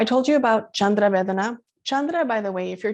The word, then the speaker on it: chandra: you about chandra vedana chandra by the way if you're taking notes um you could spell it like c c-h-a-n-d-r-a but in sanskrit we don't write ch the c has a c-h sound so you can also